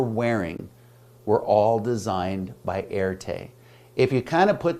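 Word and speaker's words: Erté: So they began calling him by his initials, R and T. And for those of you who have taken French 101, how do we pronounce that in French? R. And that is how Erte got his name.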